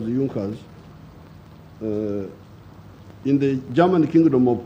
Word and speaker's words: Junkers: known as the junckers it's written in junkers but it's pronounced as yunkas in the german kingdom